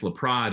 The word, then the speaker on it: LaPrade: The first article is by Christopher Laprade, I believe is how you pronounce it, and yeah, it's co-authors. Laprade. Is it Laprade? It's Laprade, and it's his son who wrote the article.